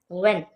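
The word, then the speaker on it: when: व्हेन, इसमें H silent है।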